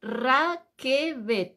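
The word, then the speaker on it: רכבת: eso es Cómo se dice tren se dice Raquel r a K e e b b de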